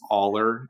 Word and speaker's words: Allar: I don't know how to pronounce his last name. It's Allar, Allar.